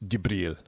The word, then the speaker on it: Jibril: But Gabriel, the Fluffy, for some people who don't know him by his first name, Gabriel, Fluffy, or in the Middle East, his name is pronounced Jibril.